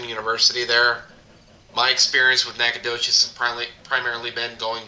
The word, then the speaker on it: Nacogdoches: do you say that late is this town nacogdoches nacogdoches yeah oh huh that's a hell of